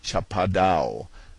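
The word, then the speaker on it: Chapadão: It is the kind of country known to the Brazilians as Chapadao, pronounced almost as if it were a French word and spelled Shapadon.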